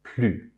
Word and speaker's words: plus: When used in a negative sense, the S is never pronounced. It's always plus.